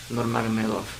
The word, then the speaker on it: Nurmagomedov: Nurmagomedov.